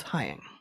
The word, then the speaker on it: Heying: Hying rhymes with flying.